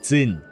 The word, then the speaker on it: Zin: Excuse me, do you know the way to Jin's well? It's under a tree by the python. Oh, okay, it's pronounced Zin, not Jin.